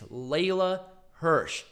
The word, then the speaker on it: Leyla Hirsch: layla hirsch people bitching me about me pronounce mispronouncing layla's name it's layla hirsch shut up anyway wait wait how did you pronounce before i think it said layla hirsch instead of leela hirsch and i also butchered the last name because